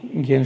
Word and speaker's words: জ্ঞান: আমরা জ্ঞান বলতে পারি, এক্ষেত্রে জ্ঞান শব্দটি প্রথম বর্গীয় জ ইয় আগে আছে, জ্ঞান উচ্চারণ হবে।